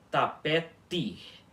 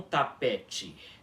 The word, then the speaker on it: tapete: Sempre t puro, independentemente se ela estiver seguida de um I.